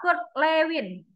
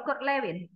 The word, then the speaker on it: Kurt Lewin: yang pertama mengembangkan itu dalam konteks sosial adalah Kurt Lewin bacanya betul Kurt Lewin betul betul ya Lewin ya jadi dia ada